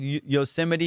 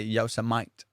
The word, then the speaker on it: Yosemite: He called Yosemite Yosemite. Fool, he was reading it, and he called it Yosemite.